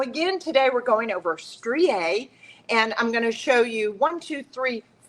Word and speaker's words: Strié: That's spelled S T R I E, but there is an apostrophe and it's pronounced stre.